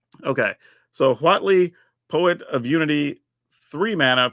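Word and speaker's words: Huatli: and I have been saying this correctly as Watley so if you're wondering that is how it's pronounced just saying okay so Watley poet of unity three Mana for a two3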